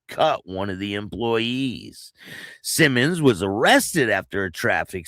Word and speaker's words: Simonds: Now, uh Gregory Simmons, his his name is spelled S I M O N D S, Simmons Jr., 42 years old of Pensacola, pleaded guilty